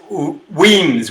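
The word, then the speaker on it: Wemyss: would you like a robert uh whereas is pronounced weens williams bay is a small port town west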